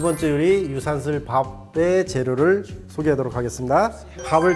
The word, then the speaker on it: 유산슬: 자, 이렇게 해서 유산슬 밥의 재료를 소개해 드렸습니다. 이제 본격적으로 유산슬 밥을 만들어 보도록 하겠습니다. 이제 유산슬 뜻을 먼저 설명한다고 그러면요. 유산슬이라는 거는 중국 발음으로 르우산스라고 그럽니다.